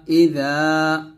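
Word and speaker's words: إِذَا: জাল আলিফ জবর যা ইযা ওয়া মিন শাররি গাসিকিন গা এক টান দিবেন গাসিকিন ইযা এই জালটা যখন উচ্চারণ করবেন জিহ্বার আগা সামনের উপরের দুই দাঁতের আগার সঙ্গে লাগিয়ে জালটা পাতলা করে উচ্চারণ করবেন ইযা ওয়াও জবর ওয়া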